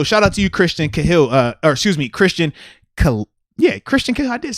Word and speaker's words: Cahill: And also shout out to you, Christian Cahill, Christian Cahill.